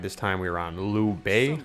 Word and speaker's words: Liu Bei: time we were on Lou Bay I believe would be the appropriate pronunciation of this boss this boss is using